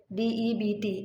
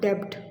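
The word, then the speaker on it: debt: in the end and the word Deb d e BT it is pronounced as Deb not debbed okay that mean kza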